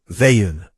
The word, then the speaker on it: Veun: Veun, she said. The pronunciation was soft, the first syllable like a breath.